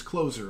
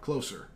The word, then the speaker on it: Closer: And yes, it is Closer and not Closer. Okay. But... Pronunciation. It's a thing. But yeah, it's like Mariano Rivera, not, come over here.